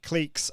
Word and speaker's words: cliques: cliques uh i think some pretty people pronounce that clicks but cliques and people starting to